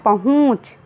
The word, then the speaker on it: पहुँच: हवा निकलती है, और अनुनासिक जिसमें लगा होता है उसे थोड़ा लंबा खींचकर बोला जाता है, तो हम इसे उच्चारण करते हैं पहुँच।